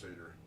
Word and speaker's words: satyr: It is Satyr like the goat, the Greek creature, the half goat, half human. Oh, yeah. It is pronounced Satyr. Oh, Satyr. Oh, okay, Satyr.